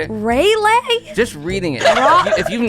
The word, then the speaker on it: Raleigh: Raleigh?